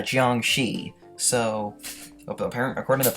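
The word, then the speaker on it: 僵尸: these are chinese zombies known as jian shi roaming around china sorry the correct pronunciation is a chiang shi so apparently according to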